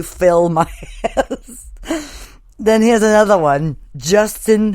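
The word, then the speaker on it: Philmias: fill my ass okay that one is really up because if you look at the way it's spelled it's p-h-i-l-m-i-a-s so it looks like Phil Mias but it's really fill my ass then here's another one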